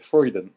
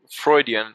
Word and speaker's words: Freudian: before fre slip yeah is it freuden Freudian it's named after sigma Freud oh yeah that was